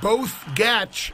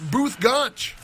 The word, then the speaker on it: Both Gach: His name may look like both Gach, but it's pronounced Booth Gach.